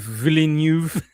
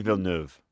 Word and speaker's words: Villeneuve: I'll never get Denis Villeneuve.